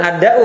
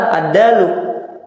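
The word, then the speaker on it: دال: Dal. Jangan bilang ad-da'u, jangan. Itu penyakit ad-da'u itu. Ad-da'u ad-dawa. Da apa da? Dal, ad-dalu.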